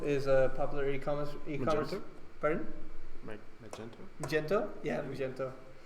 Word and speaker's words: Magento: So Magneto is a popular e-commerce. Magento?